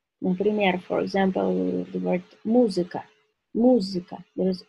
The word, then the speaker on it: музыка: Например, for example, the word музыка.